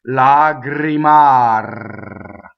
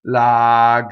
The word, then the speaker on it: lagrimar: So, there we have the two rolled R's and A and A. Now, you can do what I call a purity test, where you check the purity of your vowels, right? So if you just said vowels in this word, you could say a, e, a. Now it should feel exactly the same when the R's come back in. Lagrimar. So that's your purity test.